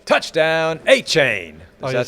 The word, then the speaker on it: Etienne: Well, Travis, we're going to be announcing your name correctly. A-chain. Travis A-chain.